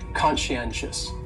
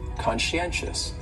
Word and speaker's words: conscientious: on there so conscientious has four syllables and the stress is on that third syllable that NN conscientious conscientious that second syllable is